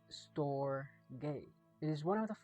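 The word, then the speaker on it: storge: called ST which means familial affection sto is pronounced store it is one of the four classical Greek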